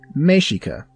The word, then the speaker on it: Mexica: Many who focus on the Aztec use the more appropriate term Mexica, pronounced Mexica.